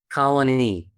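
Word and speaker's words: Colonie: So, you put the emphasis on knee. So, colony. Colony.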